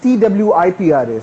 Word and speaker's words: Tripura: Actually अगर आप locally इसको बोलेंगे that's TWIPRA. So that's Tripura. Tripura. Tripura, that's TWIPRA.